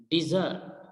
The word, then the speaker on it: desert: Basically इसको हम pronounce करेंगे, जो करेक्ट प्रोनाउंसिएशन वो होगी डिजर्ट, डिजर्ट, DI, डिजर्ट. इसी तरह से जो रेगिस्तान है सहरा, DESERT, इसको हम प्रोनाउंस करेंगे डेजर्ट.